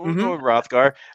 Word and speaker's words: Rothgar: looking at number one rothgar i i i think the h is silent right yeah well we'll say that sure yeah yeah yeah the age is silent so rothgar um you know this